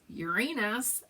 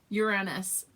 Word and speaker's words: Uranus: Uranus, you thought it was supposed to be, I don't know, accent on the U. I think I'm saying it that way, aren't I? Accent on the U, but maybe I'm not.